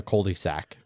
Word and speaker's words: cul-de-sac: wasn't just like a narrow column with a cul-de-sac, because that makes it really easy.